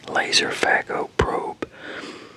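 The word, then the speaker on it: Laserphaco: I don't know if you're if this is pronounced with a the P and the H is pronounced as a F or what, but I'm assuming that's what it is. Laser fac.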